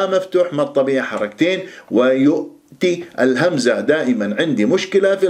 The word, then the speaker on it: ويؤتي: وألف ساكن قبلها ها مفتوح، ما الطبيعة حركتين، ويؤتي الهمزة، دائما عندي مشكلة في الهمزة الساكنة في